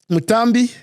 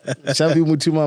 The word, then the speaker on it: Mushambi Mutuma: Mutambi. Yeah. Musimba. Mushambi Mutuma. Mushambi Mutuma, my apologies.